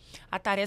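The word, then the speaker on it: atarê: @ ataré palavr terapia aara se fala como se escreve a t a r e palavra terapia aara é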